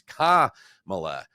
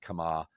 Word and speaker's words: Kamala: I just didn't know where the accent was because I've heard it said both ways, but it is Kamala, not Kamala.